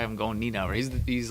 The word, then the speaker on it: Nienaber: Oh, That's how they were saying it. Nienaber. That just doesn't seem like it would be the correct way of pronouncing You were it. trying to say it like Nina Bar or something. Niambar or something Yeah. like that. I don't know. They kept saying Nienaber.